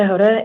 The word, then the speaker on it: Hoda: Howda to the podium. Name and date of birth, please. Hoda, 8/22/81. Thank you. I apologize for mispronouncing your last name. You said it great, actually. It's Hoda.